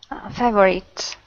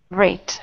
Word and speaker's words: favorite: How many syllables? 3. 2. No. 2. Try again. Favorite. I'm still hearing 3. Listen to me. Favorite. Favorite. Favorite. Favorite. Listen. Favorite. Vrit, favorite. Yeah, the V and R are together.